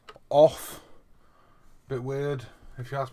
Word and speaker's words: OFRF: It's not ORFF or OFRF. It's pronounced off.